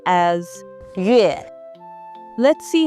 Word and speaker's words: 月: It is pronounced as 月.